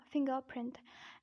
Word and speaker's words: fingerprint: But in British accent, you have to say it fingerprint, and the reason is that I'm pronouncing the second R but not pronouncing the first R. The reason is that this R is followed by P, not by a vowel. So I would say fingerprint.